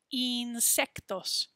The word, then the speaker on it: insectos: have to remember that we're not going to say that i like a sound like we do in english we're going to say it like a e sound insectos insect insects and then